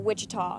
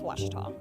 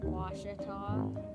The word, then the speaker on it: Ouachita: Back in Texas, everybody pronounces it Wichita, but really, it's Washita. Washita. Washita. How would you pronounce it? Washita.